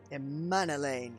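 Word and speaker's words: Emmanellain: elaine's life aye aye he told me everything a man elaine okay now i know how to say it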